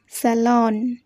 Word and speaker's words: salon: Next one, SALON, এই শব্দটাকেও আমরা বলি স্যালুন, কিন্তু এটাও একটা ভুল উচ্চারণ। আমরা এখানে বলবো স্যালন। কি বলবে? স্যালন।